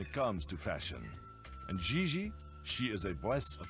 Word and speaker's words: Gigi: pronounce G like J and J like G. She may very well be JJ in America, but in France, she is Gigi.